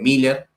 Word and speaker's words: Mueller: O sea, en español, por ejemplo, vos tenés la dogmática cristiana de Miller, que se escribe Mueller, Ujú.